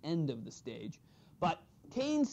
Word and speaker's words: Keynes: Even if it's spelled with a K-E-Y, it's Keynes.